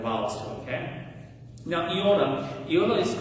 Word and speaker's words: iota: Okay, so my professors told me to pronounce it like E, like machine, E. Okay, so iota is going to be E.